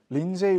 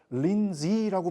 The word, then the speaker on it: 린지: 린제이 로한이라고 우리나라에서 이제 이야기하는데, 린제이 로한이 예전에 한국에서 기사를 그렇게 쓴 걸 보고서 이게 린제이가 아니라 린지라고 발음해야 된다라고 하면서 또 굉장히 화제가 되었던 사람이기도 하죠.